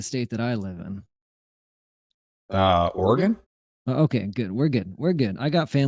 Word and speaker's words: Oregon: If you can pronounce, how do you say the state that I live in? Oregon.